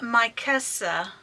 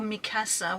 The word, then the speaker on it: Mikasa: This is Mikasa, or Mikasa, whichever way you want to pronounce it.